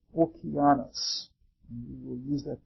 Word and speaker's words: Oceanus: deity or titan called Oceanus. The Greeks would pronounce it Okeanos.